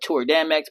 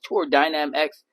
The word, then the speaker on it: Tour Dynam X: I call it Tour Dam X, but it's Tour Dynam X.